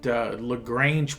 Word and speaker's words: Lagrange: These are at Lagrange points, and I don't think it's spelled like Lagrange, Georgia, but the pronunciation, I believe, is the same.